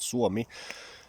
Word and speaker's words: Suomi: in Finnish is called Suomi, and suo is a compound word. There's two syllables. Suo is one word, mi is another word.